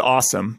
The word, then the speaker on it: Osome: Okay, I'm guessing it's awesome, right? That's how you would say it. It's got to be. You wouldn't say awesome. No, it's awesome. Yeah, it's awesome, but it's spelled with an O.